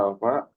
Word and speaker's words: alfa: Ada yang namanya A, ini dibacanya alfa. Waktu di fisika tahu kan ya, ini dibacanya alfa.